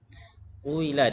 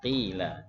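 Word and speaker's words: قيل: Kuila dibaca qila.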